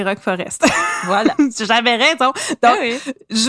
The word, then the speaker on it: Rock Forest: Rock Forest Rock Forest les gens nous ont écrit comment ça se prononce on fera plus l'erreur c'est Rock Forest voilà j'avais raison donc